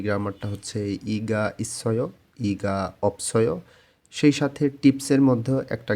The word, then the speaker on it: 없어요: নিচেরটা অপসয় উচ্চারণ হবে, কারণ এখানে ডাবল বাচ্ছিম আছে।